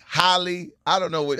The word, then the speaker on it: Halle: All right, DDG, Haley, Holly. I don't know what. How you say it, KeKe? Haley. Haley.